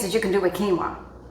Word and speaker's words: quinoa: There's so many things that you can do with quinoa. Q U I N O A is quinoa. And somebody used to pronounce it canoa, right?